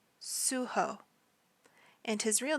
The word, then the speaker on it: Suho: leader of the group his stage name is suho suho and his real name is Kim Jun Mian